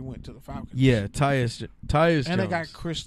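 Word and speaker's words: Tytus: Titus. Titus. Tyus. No extra T.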